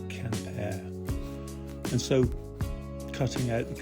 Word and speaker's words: Quimper: I call it Quimper. I think it's supposed to be pronounced Campair.